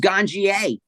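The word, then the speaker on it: Ganjier: wonder how is it pronounced is it pronounced ganir G how is it properly pronounced it it's pronounced ganier my son came up with the name maybe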